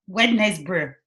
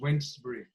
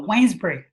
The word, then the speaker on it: Wednesbury: students in the past it's read to me pronounces wince breathe Oh whines pretty okay he's a silent E okay like Wednesday I was told by